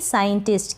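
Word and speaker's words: scientist: भी सेम ऐसे ही साइंटिस्ट। क्या है? साइंटिस्ट। यहाँ पर भी एस सी के बाद आई है, इसलिए हमने एस सी को स पढ़ा।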